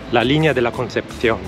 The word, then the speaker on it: La Línea de la Concepción: Il paese qui si chiama La Línea de la Concepción. Notare la pronuncia.